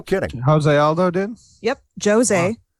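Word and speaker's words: José: Jose, again, you pronounce the J because he's Brazilian.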